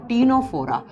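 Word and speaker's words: Ctenophora: पहले जब हम देखो सी से लिखा जाता है लेकिन इसको प्रोनाउंस करते हैं तो टी से कर जाता है तीनोरा आप तीनों फोरम में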